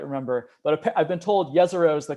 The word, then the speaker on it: Jezero: I don't quite remember, but I've been told Jezero is the correct pronunciation.